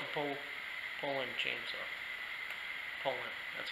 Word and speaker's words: Poulan: I don't wanna pull on this all day, even though it's a Poulan chainsaw. Poulan, that's how you pronounce it.